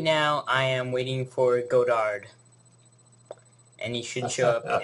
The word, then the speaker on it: Godard: My name was originally Godard, but as you would imagine, in Jones County, Georgia, that pronunciation must have lasted about 20 minutes, and they converted to pronouncing it Goddard.